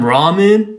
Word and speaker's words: ramen: It's not pronounced ramen. So when you go to Japan, don't go into restaurants saying, could I get some ramen? It's actually pronounced ramen.